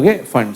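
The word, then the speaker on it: Pfund: फिर फिर फंड series प साइलेंट होता है ओ फंड सीरीज ठीक है चलो अभी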